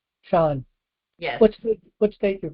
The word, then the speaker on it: Sean: Is that how you pronounce that? S H A W N. Sean. Sean.